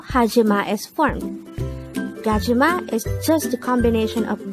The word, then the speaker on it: 가지마: 1003 kachima kajima this is pronounced as a three syllable word the first syllable is